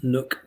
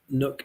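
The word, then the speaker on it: neuk: to plug at east nook pirates twitter page so for those of you not scottish nook is spelt n-e-u-k east nook pirates twitter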